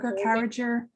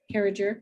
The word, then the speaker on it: Carriger: By Gail how does she Yes, pronounce her name? Carriger. Carriger.